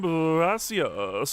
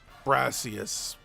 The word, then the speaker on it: Brassius: I am Brassius, an artist specialized in grass pipe Pokemon. I'm also the gym leader here. Brassius. That, well, brass rhymes with grass, so I think that was very deliberate.